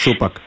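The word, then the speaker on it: Šupak: It's like a rapper Tupac, but with a sh. Yes. Supak.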